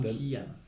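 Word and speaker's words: 곤지암: Gonjiam. Gonjiam. No sé Gonjiam. cómo. Gonjiam, sí, no Mi estoy mal. coreano es pésimo. Pero sí, lo pronunciaste bien.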